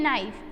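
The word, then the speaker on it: knife: फिर है नाइफ, उसमें भी साइलेंट वर्ड है K।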